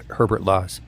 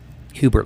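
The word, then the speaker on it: Hubert Laws: Peter kkin Jazz vocal Legend aljo and flst Herbert law Hubert LW Hubert thank you that's the first time I've ever said his name wrong in my life you know people do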